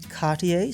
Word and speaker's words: Cartier: now you're probably thinking Cartier sounds fancy enough that I should pronounce it with a French accent even if mine is terrible and you'd be right but here's something unexpected Cartier's most iconic watch.